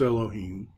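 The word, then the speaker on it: אלהים: Segel yeah lo keem so that's not a vowel that's part of the cantillation marks so we get ya lo heme yet Boyet is our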